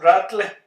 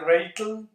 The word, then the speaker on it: Rattle: Ratel, algunos le dicen Ratel, otros le dicen Rattle, pero en realidad pues la pronunciación más correcta es Ratel, o en Estados Unidos le dicen Ratel, en Europa le dicen un poco más Ratel.